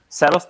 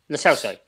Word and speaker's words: Lo Celso: Selos, the Betis player? Lo Celso. Yeah. Jesus, how Lavi's pronunciations get worse.